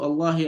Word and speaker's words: الله: So here the nearest vowel sound before it is the fatha of the hizbah. And so because of that, all these two Allah here are pronounced heavily.